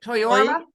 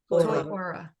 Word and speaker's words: Toiora: Toiora. Toiora. T-O-I, Ora, O-R-A.